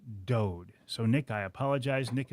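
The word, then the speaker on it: Dood: I called him Nick Dude. He did not correct me. So throughout the entire podcast, I called him Nick Dude is it's pronounced Dode.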